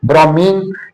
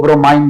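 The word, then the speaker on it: bromine: Like mercury liquid state में पाया जाता है, ब्रोमीन लिक्विड स्टेट में पाए जाने वाला एलिमेंट, अक्सर इसको ब्रोमाइन भी प्रोनाउंस किया जाता है, दोनों तरह से ठीक है।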